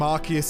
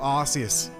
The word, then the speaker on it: Arceus: out the reason why they have to call him Arceus and not Arceus because if they went with the Arceus pronunciation this would have to be called the ass phone there is literally no